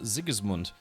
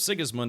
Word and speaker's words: Sigismund: Well, yeah, in the German language, you know, it's not always the case, but when words start with S, it's almost pronounced with a Z-ish pronunciation. And then words that start with a Z kind of sound like they start with a TS. So yeah, it instead of Sigismund, it'd be more like Sigismund in German.